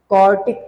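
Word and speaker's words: quartic: आई एम not saying क्वाड्रेटिक, आई am just saying क्वार्टिक। Spelling पे ध्यान देना। यहाँ पे डी है, यहाँ पे क्या है? टी। क्वाड्रेटिक degree 2, क्वार्टिक degree 4।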